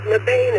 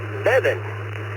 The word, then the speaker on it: Mebane: As for the location, I called it Mabane until I moved here. The locals promptly corrected me, and apparently it is pronounced Mebane.